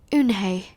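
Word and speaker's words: Unhei: he asked her with his eyes wide open Yoon hae looked quickly at mr. Kim then turned to Joey she nodded slowly yes it's pronounced hoon Hey and it means grace mr.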